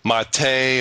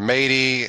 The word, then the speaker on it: MATE: I believe there will be two default versions, if you will, Mate, or somebody said it's pronounced Mate or Matey.